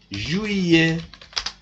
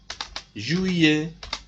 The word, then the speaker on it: juillet: Don't say juillet, juillet. L is not pronounced in this word.